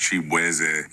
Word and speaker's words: Chibueze: I'm Nigerian-American, so my last name is actually pronounced Chibueze.